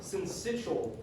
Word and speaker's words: syncytial: So respiratory syncytial virus, that's how you say it, RSV.